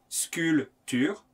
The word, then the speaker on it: sculpture: la voiture la sculpture attention on ne prononce pas le p sculpture la nature à présent